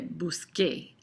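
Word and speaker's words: busqué: Buscar, in order, you can't say busque, CE. That would, a CE says it say like an S. And so the C changes to a QU in this form, and we say busque.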